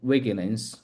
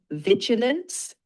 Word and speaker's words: vigilance: I underhmphasize a life skill that combines overconfidence and encourages curiosity and the wigance when faced with new information or uncertainty. Good job. Just one pronunciation fix. It's vigilance.